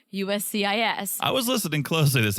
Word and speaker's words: USCIS: when he actually said USCIS. I was listening closely this episode. One moment. He mumbles it. He just kind of strings all the letters together. He forgets one of the letters. He said UCIS.